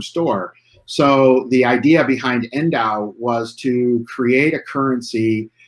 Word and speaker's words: NDAU: about the project name, which is pronounced Endow, but it's spelled NDAU.